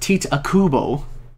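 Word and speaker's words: Tite Kubo: to all the manga characters difficult it's actually pronounced teat Kubo yes t takubo straight drinking milk straight from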